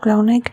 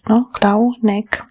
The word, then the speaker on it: Clauneck: We have the 2 fours, Clauneck. We say the Clauneck has 3 syllables, but the letters, we